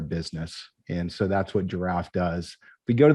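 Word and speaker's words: Jirav: It is pronounced just like the animal, a complete misspelling there.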